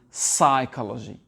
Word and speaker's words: psychology: On entend les gens dire psychology, psychology. Le P n'est pas prononcé. Et c'est psychology.